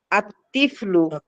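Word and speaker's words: الطفل: ঠিক দেখেন, তিফলুন এই শব্দটা, এটা শুরুতে যখন আমরা আলিফ লাম দিব তখন হয়ে গেল কি আতিফলু। আতিফলু লেখা কিন্তু এরকম, কিন্তু উচ্চারণের সময় এই লামটা উচ্চারণ হবে না।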